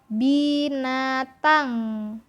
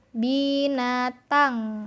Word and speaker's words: binatang: Nah, kalau kita gabung bacanya jadi eng ya. Contoh binatang, binatang. Nah, seperti itu ya. Jadi ada dengungnya di belakang.